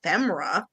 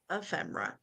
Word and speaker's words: ephemera: Like I didn't know it was called femra. Ephemera, yeah. Ephemera.